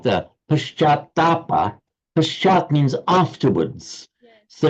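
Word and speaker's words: पश्चात्ताप: Pashatapa. It's Paschatapa.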